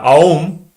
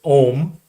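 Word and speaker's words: Aum: uh mistakenly pronounced as om om it's not om it's not just o m it's actually kind of three uh english vowels which would be ah so the a the u and the m is how it's more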